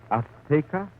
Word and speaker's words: Azteca: She said, how do you say in English, Azteca? Azteca. She gave the Z a TH sound. That's Castilian Spanish. Mexican or any Spanish American would say Azteca.